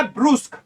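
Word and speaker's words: brusque: अपना प्रोनाउंसिएशन लिखू हमें बी आर यू एस क्यू यू E pronunciation to हो अपना ब्रूस्क ब्रूस को माने की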